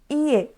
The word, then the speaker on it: ie: Ie. Ie. Ali tem dois i's, tá? Então, a gente não vai falar ie. A gente vai pronunciar ie. É um i um pouquinho mais longo.